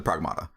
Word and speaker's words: Pragmata: Um Prag Well, she's she's the pragmata. Um, Prag Pragmata is actually how it's pronounced, which uh, okay, sure.